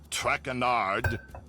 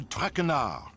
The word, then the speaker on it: Trenard: as for my name not track andard it is trenard trenard